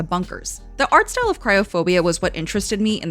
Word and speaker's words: Kriophobia: First of all, how do I pronounce it? Luigi. Oh, the game. It's Kriophobia.